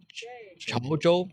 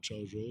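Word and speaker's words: 潮州: And then You're I went pronounced to perfect. Xiamen. No, Chaozhou. Chaozhou. Chaozhou, yeah.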